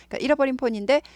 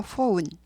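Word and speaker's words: phone: 핸드폰 폰 이러세요 근데 원래는 본인들 발음은 포운 발음이 포운 포운 오우 발음인데 우리말 흉내라고 폰폰 하고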